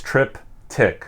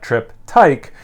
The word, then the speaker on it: Triptych: for over four years so it's trip tick like tick tock not trip tyke uh like i want